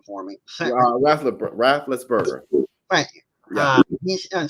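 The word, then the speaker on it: Raffensperger: Can you pronounce his name for me? Rafflesberger.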